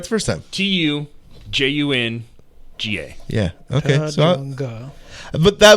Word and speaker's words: Tujunga: It's pronounced Tujunga. Okay, so I said it right the first time. Tujunga.